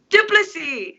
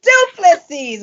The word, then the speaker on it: Du Plessis: background vocalist, Miss Lois Du Plessis. I always say it wrong. We've been working on this for a minute. Help me out, Lois. Du Plessis. Du Plessis.